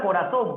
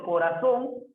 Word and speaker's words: corazón: La palabra corazón, profe, corazón, tiene la mayor fuerza de voz en la sílaba son, última sílaba.